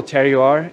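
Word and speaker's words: terroir: all about the local tear you are is how you say that word the the flavor of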